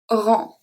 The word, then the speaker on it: rang: The next one we're going to see is when the G at the end is not pronounced. We have le sang. Le sang. Sang. Le sang. Le rang.